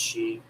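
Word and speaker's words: Sidhe: you are still here the tarot of the sheep and it's looks like city but it's actually pronounced sheep this is one of my favorite decks it's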